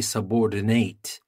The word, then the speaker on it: subordinate: you say subordinate so in the first one the noun subordinate and as a verb we stress the last part and we say subordinate so here let's start